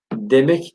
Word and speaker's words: demek: Normalde dimek diye yazılır, demek diye okunur.